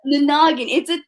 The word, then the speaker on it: NANAGIN: Is that how it's pronounced? NANAGIN? NANAGIN.